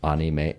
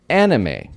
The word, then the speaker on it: anime: They said anime. So which is it? It's either. Jodan desu yo, jodan. Actually, anime is a loan word from Japanese into English.